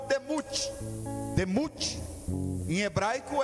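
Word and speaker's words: דמות: E a palavra semelhança no hebraico se pronuncia como demut.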